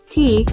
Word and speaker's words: Ti: T, pronounced T, is the Creole variant of the French petite.